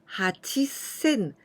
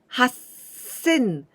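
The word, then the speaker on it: 八千: 000 nana sen now 8 000 is irregular pronunciation 8 we pronounce hachi but we don't say hachi sen but we said ha sen with two this one small too this is number nine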